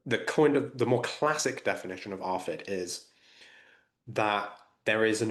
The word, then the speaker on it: ARFID: Would you explain what ARFID is, and maybe if Sure. I'm pronouncing it No, correctly?